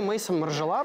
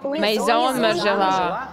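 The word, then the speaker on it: Maison Margiela: Ну вообще не Мейсон, а... Мейзон. Мейзон Маржела. Да, многие называют его Мартин, это неправильно.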